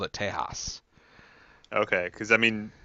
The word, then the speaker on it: Tejas: Because that pronunciation was of Mexican Tejas.